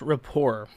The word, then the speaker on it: rapport: give me a second it's pronounced rapport okay i don't speak